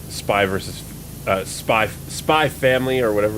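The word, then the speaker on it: Spy × Family: spy versus uh spy Spy family or whatever it's called Uh apparently you're not supposed to say the X in the names of animes speaking of anime you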